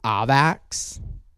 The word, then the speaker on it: AVAX: don't care if it's avax or some other apparently it's ovax is apparently how it's said but like avalanche avax ah avax we don't say that anyway regardless just check